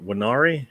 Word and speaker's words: Nwaneri: So Marquinhos or Nwaneri is how you say his name.